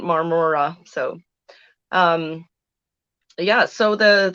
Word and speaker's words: Marmora: the the words um there was one town we stayed in called marmara and it took me forever to to learn how to say it because I just wanted to do that Mahna Mahna song see I just murmura so it wasn't Marmora so um yeah so